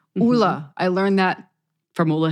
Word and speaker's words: Ole: Yes, that is how you pronounce his name. Ole.